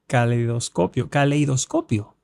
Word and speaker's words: caleidoscopio: No puedo decir la palabra. ¿Cómo se dice? Caleidoscopio. Lo dije, ¿no? Caleidoscopio. Así se dice.